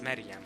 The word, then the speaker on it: Maryam: And Maryam, It's pronounced Mariam.